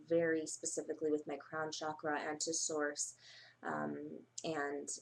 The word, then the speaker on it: chakra: off and at this time a very specific chakra or chakra as they are suppos as we're supposed to call it as it's actually pronounced chakra meditation um that starts like I said 6